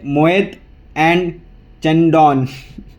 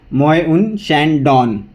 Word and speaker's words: Moët & Chandon: कि इसको अगर इंडियन इंग्लिश से कंपेयर करें, मतलब जो अगर हम इंडियन इंग्लिश से इसको प्रोनाउंस करने की बात करें तो ये मोएत एंड चंडॉन ये ऐसे कुछ है, बट इसका प्रोनाउंसिएशन ऐसा है मोए उन शैंडॉन, ऐसे कुछ इसका प्रोनाउंसिएशन है।